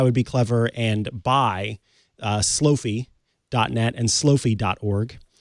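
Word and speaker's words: Slofie: better and there's a slow fee that's just horrifying by the way folks slow fee is spelled SLO fi e so please for the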